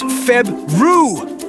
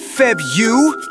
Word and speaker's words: February: In case you haven't noticed, I have two Rs in my name. It's Febru, not Febu.